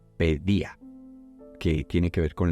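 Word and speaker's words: παιδεία: eje de la paellace que estoy pronunciando mal el griego me toca tomar algunas clases de griego creo que en vez de pay de ella se dice pedía que tiene que ver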